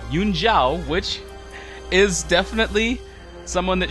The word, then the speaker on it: Zhao: And yes, it's actually pronounced Zhao. Xin Zhao's name is pronounced Xin Zhao, not Xin Zhao.